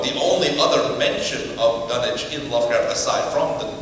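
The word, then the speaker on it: Dunwich: would like to think he pronounced a dunich because that's Al Pro is that the British pronunciation uh because the likelihood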